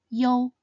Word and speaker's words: iu: They are you, yong, yin, and ying. The first compound final is yo. Yo sounds similar to the yo in yo-yo.